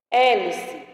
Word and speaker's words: hélice: Hélice, também. Se eu tirar a letra H, continua sendo o mesmo nome, hélice.